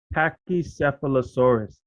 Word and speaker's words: Pachycephalosaurus: I was like, look, puppy, this is a He was like, no, dad, Pachycephalosaurus.